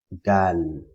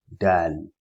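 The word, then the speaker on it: د: next is this called Dan Dan pronounced using the top of the tip of the tongue and the gum line of the two and front upper in scissors as in the English word damn in Arabic means to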